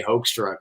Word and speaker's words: Hoekstra: just you know look my name is supposed to be if you do the Dutch pronunciation have like a hook you know like a hook but right nobody would ever get that out of hoek so I I just say hoax truck because I have mercy